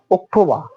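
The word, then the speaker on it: October: এইরকম এখন পরবর্তী অক্টোবর আর সাইলেন্ট এখানেও আর সাইলেন্ট থাকতেছে অক্টোবর অক্টোবর অক্টোবর অক্টোবর এভাবে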